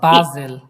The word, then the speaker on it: Basel: ফার্স্টে থেকে এখানে দেখেন, ইশ কমে আউস বাজেল, এ- এস থাকলে আমরা কি উচ্চারণ করবো? জেড। ওকে, জেডের মতো ইশ কমে আউস বাজেল বাজেল।